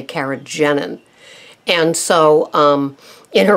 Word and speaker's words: carrageenan: I've heard it pronounced keragenan which would make sense because there's two e but most of the most of the experts say kagenine and so um in